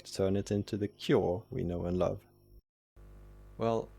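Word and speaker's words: 京: Well, actually, there was an intermediate step, where the long "ō" from "ou" and this one from "au" were pronounced slightly differently before merging, the latter being more open, like this: /toːkjɔː/.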